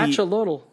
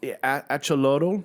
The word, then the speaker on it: Axolotl: This is the Axolotl. Axolotl. Usually, I mean, like I can in Latin America. in Aztec society, the X is a ch. Yeah. Right? So it's AX. I would say axolotl because the TL is also.